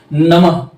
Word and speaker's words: नमः: रखेंगे जैसे एसे एग्जांपल आप नमः लिखते हो नमः ठीक है तो नमः में आधा ह आ रहा है इसका उच्चारण हम आधा ह से करते हैं तो अयोगवाह की संख्या